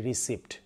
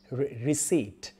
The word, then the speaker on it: receipt: বলি রিসিপ্ট রিসিপ্টটা কোথায় পি P silent থাকবে পিটা হবে না রিসিট রিসিট রিসিট where is দ্য রিসিট could you please give me দ্য রিসিট I want the রিসিট রিসিট নট রিসিপ্ট যদি এখানে একটা পি আছে পি শুড বি সাইলেন্ট তো আশা করি এই